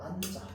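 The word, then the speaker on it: 앉아: 자, 그래서 그대로 살려주기 때문에 니은과 지읒을 다 살려주려고 니은은 앞글자, 지읒은 뒷글자에 붙는 겁니다. 알겠죠? 자, 그래서 우리는 최종 발음으로 안자 이렇게 붙습니다. 부릅니다.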